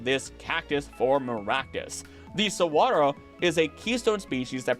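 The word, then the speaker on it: saguaro: This all relates to the cigaro cactus which you may have heard pronounced as sigaro even by me because I only recently learned how to pronounce it which is sawro and considering it is native to Mexico we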